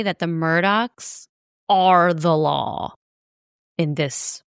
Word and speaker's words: Murdaugh: think it would be Murdall, it's actually pronounced Murdaugh. Like with a k on the end.